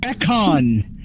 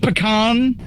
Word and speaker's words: Beckon: It is Veon Beckon. Not vein, not pecan. It's veon.